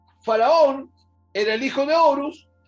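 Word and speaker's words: Horus: Recordemos que faraón para los egipcios era orus vivo. Orus se escribe con h o ru s.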